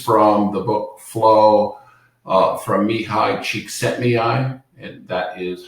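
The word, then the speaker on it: Mihaly Csikszentmihalyi: and this is from the book flow from mihai cheek set Mei and that is how you pronounce that um and flow is really about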